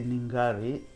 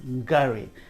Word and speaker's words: Ngari: can't even pronounce it they say ningari guys it's gary the n makes the g pop you know makes the g pop gary and it means love